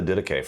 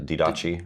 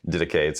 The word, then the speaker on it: Didache: People always pronounce it wrong too. You hear a lot of Didache. Didache, yeah. Didache.